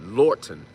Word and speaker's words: Lorton: Lorton. L O R T O N. Like Lorton Morton.